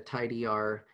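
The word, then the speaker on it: tidyr: that's associated with it i'm never quite sure how you're supposed to pronounce these things but i would say the tidy r package that is associated with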